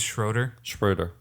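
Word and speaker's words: Schröder: I can't because I pronounce it Rudiger? wrong. No. No, Dennis Schroeder.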